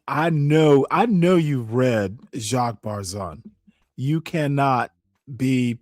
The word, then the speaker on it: Barzun: So ending this show and watching me some Jacques Barzun is Barzun. Barzun is how I pronounce it.